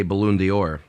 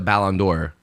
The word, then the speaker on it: Ballon d'Or: think lewandowski gets a balloon dior allen door excuse me put the wrong and fastest on the wrong syllable i will say that lewandowski gets a ballon d'or while he's at barcelona